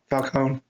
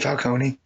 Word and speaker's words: Falcone: know just traditionally that that name is pronounced like that you know Falone but for whatever reason begin hit it with the Falcone I don't know it's